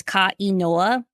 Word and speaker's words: Kainoa: And it's, if you say it like in a sentence, it's Kainoa, and it means the name.